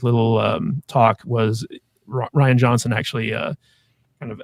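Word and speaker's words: Rian: And I know it's pronounced Ryan, guys. I prefer to pronounce it phonetically. Ruan Johnson.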